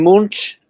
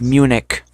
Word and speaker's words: Munich: Oh, is it in in Munch? I remember Marsh. It's Munich. Munich. That's how it's pronounced.